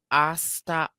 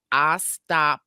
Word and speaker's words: Ostapenko: Taylor Townsend and Jelena Ostapachino. Ostapachino. Uh, I'm kind of close. how do you spell it?